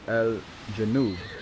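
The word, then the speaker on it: الجنوب: And then south is Al-Janub, right?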